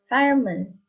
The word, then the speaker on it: fireman: is stressed or not example fireman So when you say it it's fire Moon okay it has the u sound here on the letter e